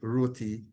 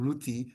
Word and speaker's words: roti: And so even though the Bhojpuri people who came after said Roti, there is validity in the pronunciation Ruti, which dates back to